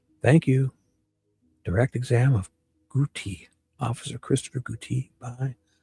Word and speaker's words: Gootee: Christopher, my last name is Gouty. G O O T E E E. Yeah. All right. And it's Guty.